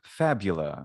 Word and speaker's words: fabula: crystals yeah so fab fabula is what i would that's how i would anglicize it because it's far boula